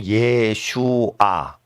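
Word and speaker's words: ישוע: 이러면 원문은 그대로 거고요 그게 히브리 발음으로 예수의 히브리 발음이에요 예슈아를 일반적인 국제적인 발음으로 예수 근데 이제 그 로마제국이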